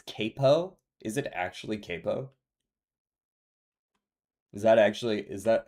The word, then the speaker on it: capo: Is it actually capo? Is that how it's pronounced? I went with the Italian, but speaking of yeah, it's actually pronounced capo.